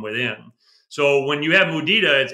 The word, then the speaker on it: mudita: I know this is not a Spanish word, but because I speak Spanish, I've been pronouncing it mudita.